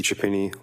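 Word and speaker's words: Chiapini: My name is Timothy Chapini. Last name is spelled C H I A P as in Peter.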